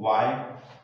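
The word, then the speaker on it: why: तो वहां पर एच लेटर क्या रहता है, साइलेंट रहता है। एग्जाम्पल देखें, वाई, यहां पर डब्ल्यू एच है, कहने का तात्पर्य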